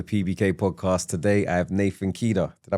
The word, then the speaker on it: Nathan Khider: Today I have Nathan Kea. Did I pronounce that correct?